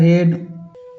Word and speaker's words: head: उसी प्रकार हेड हेड में भी नहीं होता। ए का उच्चारण हेड में भी नहीं होता ए का उच्चारण।